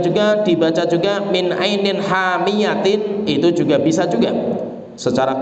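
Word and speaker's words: حامية: Tapi ada pendapat yang lain, pendapat dari Abdullah bin Abbas radhiyallahu anhuma, wajadaha taghrubu fi ainin hamiyatin, yaitu bacanya itu bukan hamiah, tapi bacanya itu fi ainin hamiyatin.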